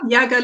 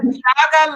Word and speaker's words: Yaga: From my source is Yaga Lifestyle. They're on Instagram. They're on how do you spell that?